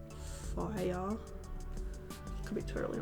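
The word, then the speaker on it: Fayr: It kind of like, it's spelled F-A-Y-R, and I feel like it's meant to be pronounced like fire.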